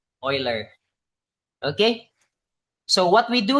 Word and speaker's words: Euler: So we pronounce this as Euler, Euler, not Euler. From the mathematician Euler.